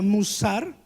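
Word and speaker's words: מוסר: entender disciplina viene de una palabra hebrea que se pronuncia musar y de una palabra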